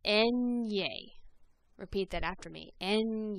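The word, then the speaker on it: eñe: repeat that after me the letter name then is pronounced en ye repeat that after me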